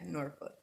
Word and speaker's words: Norfolk: yeah norfolk it's pretty i'm from i'm from virginia too it is norfolk it's it's spelled like folk though they don't ever put the l and the k on them it's no [ __